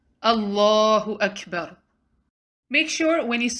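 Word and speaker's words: أكبر: to two seconds allah next word is kaf has sukun hence you will do humps on calf which means you let breath out ah it's not akbar rather do hums on calf let some breath flow out akbar that you make in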